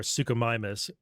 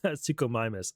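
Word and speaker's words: Suchomimus: Sukumimus. Thank you to somebody who sent me a link to how to pronounce it. Uh, Sukumimus.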